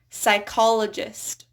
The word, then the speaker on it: psychologist: So the first thing that comes to mind is psychologist or psychiatrist or psychotherapy. It's just a silent P there.